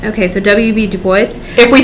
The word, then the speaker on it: Du Bois: bois i think it's i think you actually say the s that's how my professor in college said it but i think the i say it like you would say it in louisiana there's no s it's not a real word but i think i think my professor in college said dubois okay so wb du